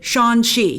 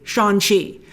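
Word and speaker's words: Shang-Chi: with entertainment weekly today he pronounced it sean she he might have been saying but the g is so silent that it's essentially shanxi so that's how i'm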